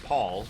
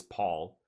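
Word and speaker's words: pall: some other weird you know but linguistically it's Paul like that's how that word is pronounced the way it's spelled like that is Paul but I I I think a lot of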